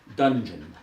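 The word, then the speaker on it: Dunjun: The train is some distance from here in the mountains of Colorado in a small enclave called Dungeon, though they spell it D-U-N-J-U-N.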